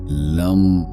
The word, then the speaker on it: लं: जैसे लम लम लम। जीभ को तालू से लगाकर एल वर्ण का उच्चारण और दोनों होठों को मिलाकर एम वर्ण का उच्चारण लंबे समय तक करना है।